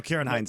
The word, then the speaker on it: Ciarán Hinds: No, Ciarán Hinds is how you say it.